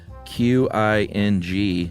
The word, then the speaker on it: Qing: was having trouble pronouncing Q I N G dynasty. Yeah. Uh Q may be roughly pronounced as T S. So. Not exactly the same, so just say Qing next time.